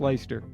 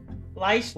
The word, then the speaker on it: Lyster: It's pronounced Lyster. Lyster. Like like Lyster Square jolly old England.